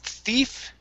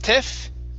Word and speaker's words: thief: Here we have the word thief. Instead of tiff, it's thief.